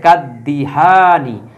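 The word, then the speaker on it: كالدهان: আলিফ লাম বসানোর কারণে এই আলিফ লামের উচ্চারণ হবে না দালের উপর একটা তাজদিদ চলে আসবে তো এজন্য কিন্তু এইযে দালের উপর একটা তাজদি চলে আসছে ঠিক আছে কাদদিহানি আর এই শেষে এই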